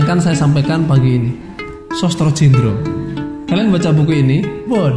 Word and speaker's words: Sastra Jendra: Nah, kita akan belajar itu melalui Sostro Jendro. Bacanya Sostro Jendro, bukan Sastra Jendra.